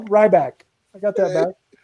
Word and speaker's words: Ryback: I said ry bread. He said it wrong. I got it right the second time though. Ryback.